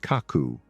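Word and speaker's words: 書く: While in Japan, it is typically used for the verb pronounced kaku to write.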